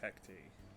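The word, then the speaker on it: Hecate: carmen has transformed into hectic hecti that's how she pronounces it in game that doesn't mean i'm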